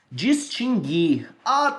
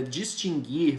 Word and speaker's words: distinguir: do índia nossa mantém distinguir mas eu sempre pronunciei distinguir pessoal que que acontece não não não tá a pronúncia não é distinguir é distinguir é distinguir a